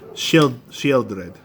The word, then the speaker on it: Sheoldred: Sheoldred. She old red. Yeah? Yeah. No, she old red. That's how it's spelled out.